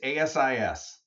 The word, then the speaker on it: ASIS: let me ask you about Asis or or or Asis I mean what's the right way to say that I always say both and I know there's a preferred it's it's Asis that's the preferred thank you I stand